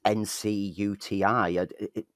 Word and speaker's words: Ncuti: It's in recent months, with Ncuti Gatwa being cast in Doctor Who, looking at Ncuti's name, it's how do you pronounce that? Because it's Ncuti.